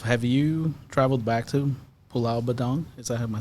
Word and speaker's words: Pulau Bidong: And as far as yourself, have you traveled back to Pulau Badong? Am I saying it correctly? Yes, Pulau Bidong I've never had a chance.